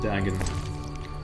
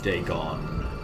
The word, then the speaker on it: Dagon: Altar of Dagon, or Dagon, as I like to pronounce it. Both pronunciations are probably equally viable.